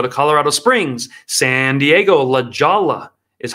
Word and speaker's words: La Jolla: San Diego, La Jolla is how it's pronounced.